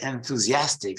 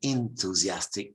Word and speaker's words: enthusiastic: Some people say enthusiastic, some people say enthusiastic.